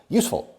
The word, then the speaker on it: useful: Ojo, no digo useful. Son 2 sílabas. Useful.